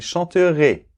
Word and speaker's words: chanteraient: là, chanterions, vous chanteriez, ils chanteraient ,-ENT, c'est muet dans la conjugaison, d’accord ? Donc on ne le prononce pas.